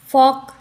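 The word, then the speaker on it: folk: silent हो गया वक यहां पर भी एल साइलेंट फॉक य पर भी एल साइलेंट है चौक चौक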